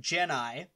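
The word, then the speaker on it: Gennai: magical man himself named jenni oh yeah if you're wondering how you pronounce that you just gotta sound like forrest gump saying jenny oh dear and they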